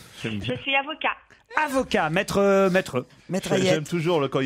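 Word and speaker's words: Hayet: J'ai bien prononcé votre prénom, Ayette? Oui, tout à fait, c'est parfait.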